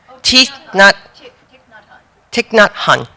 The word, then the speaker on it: Thich Nhat Hanh: Thich Nhat Hanh.